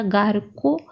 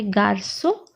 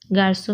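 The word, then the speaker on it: garçon: देखिए सी के बाद भी हार्ड वोवेल है ओ, तो होना चाहिए था गार को, पर ये प्रोनाउंस करने के लिए बहुत अजीब सा लगता है, तो हमने सिडेला दिया है, सी के नीचे मार्क है, एक्सेंट है, तो प्रोनाउंसिएशन बन जाता है गार्सो।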